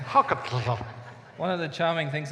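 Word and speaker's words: hákarl: Iceland's national dish and it's called Huckle not quite but it's called how cut yeah that's what I said how come one of the charming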